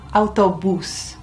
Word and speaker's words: autobús: And you know where the accent is on that because it's got one. El autobús.